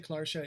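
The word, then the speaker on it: cláirseach: In the clairshah, I say clairshah, it's pronounced differently in lots of different dialects, except my family comes from Ulster, so I'm used to hearing it called clairshah.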